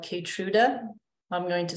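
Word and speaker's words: Keytruda: we have a question about a drug called catruda I'm going to spell it because I'm not sure I'm pronouncing it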